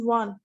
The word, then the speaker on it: one: like w anyone pronounced one how you one does it start with o or seems to be pronounced like w and hence this takes